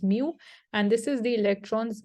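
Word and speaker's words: μ: u that you're seeing, it is pronounced as mu, and this is the electron's magnetic moment, and it is measured in amperes square meters.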